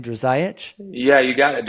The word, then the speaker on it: Drzayich: Drzayich? Yeah, you got it. Drzayich, exactly.